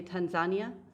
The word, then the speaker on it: Tanzania: And those are the ones that you can see in like Kenya, Tanzania. That's the American pronunciation. Here, they often say Tanzania.